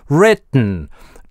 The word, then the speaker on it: written: Written - /t/ у нас может превращается в чистую паузу. А в слове ridden никогда /d/ не может заместиться на паузу. И в written у нас или гортанная смычка и носовой взрыв, или гортанная смычка и просто /n/.